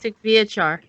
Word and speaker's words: Syktyvkar: How do you say it? Syktyvkar, my city. What? The name of the city in Russia. You mean Syktyvkar? Yeah. Yes, that's it. And Syktyvkar. Try to say it like Syktyvkar.